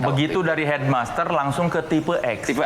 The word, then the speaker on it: Tipe-X: Bukan dari tip X yang R Bukan. Bukan. Jadi filosofinya kan ee ini kan tulisannya tipe X. Jadi, harus bacanya tipe X.